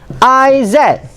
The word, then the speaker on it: is: This one should be pronounced as is, not is. Is will be Ismail. The short form for Izzat is. But this one on its own, it has to be Iz. Is. It's not is.